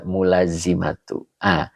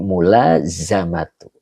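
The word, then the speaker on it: ملازمة: Bisa nggak ya dibaca mulazimatu? Ini dibacanya masdar. Jadi mulazamatu. Begitu. Ya. Kalau mulazimatu itu pakainya jadi isim fa'il. Begitu Pak Ijam. Jadi tetap kita baca masdar ya.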